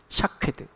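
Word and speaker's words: שָׁקֵד: 봐야 됩니다 어 여기서 살구 나무가지를 히브리어로 하면 샤드라 읽습니다 샤케드 그리고 지켜보고 있다라고 하는 말을 히브리어로 말하면 쇼크드라고 읽습니다 하나님이 지금 예레미야 이렇게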